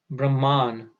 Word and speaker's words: Brahman: Then there is Brahman with a long A at the end.